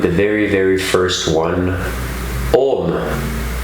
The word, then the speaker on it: Om: very very first one om o-m or a-u-m as it is often pronounced so let's clear the